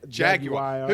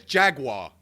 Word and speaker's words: Jaguar: Yeah, Jaguar. Who says Jaguar? There's no fucking W in it. It's Jaguar. Jaguar.